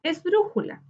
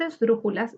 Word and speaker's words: esdrújula: Su sílaba tónica está en dru, en la antepenúltima sílaba.